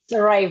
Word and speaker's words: Saraiva: Please don't beat me up if I if I mispronounce it. Is it Sarah Saraiva? Saraiva.